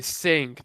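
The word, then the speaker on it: Cing: the games were developed by a sync that's uh spelled with a c they made the another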